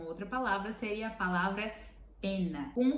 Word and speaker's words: penna: Então, você tem que pronunciar ela realmente penna, penna. E a outra, pena.